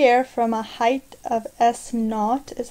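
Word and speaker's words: s₀: thrown into the air from a height of s knot is how it's pronounced above the ground with an initial velocity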